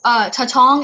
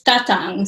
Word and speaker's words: Tatang: So Tatong, am I pronouncing that correctly? Close. It's Tatang. So the emphasis is on the first syllable.